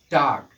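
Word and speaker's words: talk: तो एल के तुरंत बाद यहाँ पर क्या आया है, के आया है, अतः एल का उच्चारण नहीं किया जाएगा।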